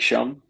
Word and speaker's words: Schum: Is it Shum or Shum? I don't even know how you pronounce his name.